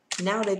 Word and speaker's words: nowadays: Nowadays từ đầu tiên ạ. Trọng âm rơi vào đây là nowadays, đúng không ạ?